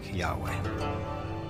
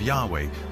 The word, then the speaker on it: Yahweh: So his title, in a sense, was God, and his name was these four letters, which in English would be YHWH, which we think were probably pronounced something like Yahweh.